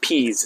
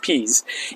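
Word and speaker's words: Piez: All right, so now we're back up at the front of the neighborhood on a street called Pease. It's P-I-E-Z, but pronounced Pease.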